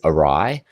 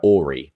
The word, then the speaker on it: awry: So it could be ori, or it could be, this could be a schwa, and this could be rye.